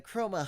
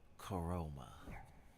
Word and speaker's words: Chroma: It's pronounced Coroma.